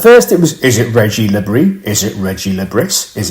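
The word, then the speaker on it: Régis Le Bris: it was, is it Reggie Lebris? Is it Reggie Lebris? Is it Regis Lebris? Is it Reggie Lebris? I don't know. But I think because he's Breton in France, you actually pronounce the S's.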